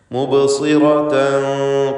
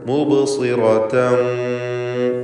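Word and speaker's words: مُبْصِرَةً: മുബ്സിറതൻ ഖാലു, ഇവിടെ സ്വാദിന് കസ്റാണ്, കുറഞ്ഞ തഫ്ഖീം നൽകിക്കൊണ്ട് സ്വാദ് തടിപ്പിച്ചുച്ചരിക്കുക.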